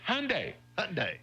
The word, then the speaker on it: Hyundai: the car brand Hyundai a lot of people say Hyundai or make it three syllables and say Hyundai you know but it's really it's really just Hyundai day also a lot of